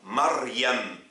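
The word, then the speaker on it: مريم: Lorsqu'il est au milieu et à la fin, il se prononce en général i, sauf dans certains cas comme Maryam.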